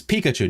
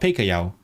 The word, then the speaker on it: Pikachu: Why would you call it Peikayao? It's Pikachu, not Peikayao.